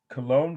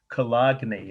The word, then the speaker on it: Cologne: see this right yeah okay this is um cologne cathedral or if you're from indiana my favorite